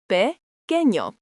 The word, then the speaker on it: pequeño: Small is pequeño, pronounced pequeño.